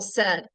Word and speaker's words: said: However, an AI usually makes the sound A. But I don't pronounce this SAID, not in 2024.